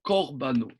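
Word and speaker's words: קָרְבָּנוֹ: Ça se prononce le kamas, le premier se prononce au korbano. Ok. Korbano, pardon.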